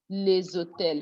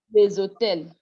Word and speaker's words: les hôtels: Normally, this S is not supposed to be pronounced. When the word is alone, les, you don't pronounce the S. The S is not pronounced. That's liaison. But when you have with a non-aspirated H, the S is now pronounced, but it gives a Z sound.